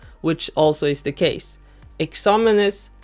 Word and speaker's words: exámenes: Exámenes should have an accent mark since it ends with S, meaning again that the second to last syllable should be stressed.